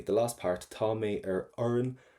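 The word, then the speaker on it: fhoireann: And then finally, the last part, tá mé oireann a. Now remember, before, we do not pronounce FHs in Irish. They are totally silent for you.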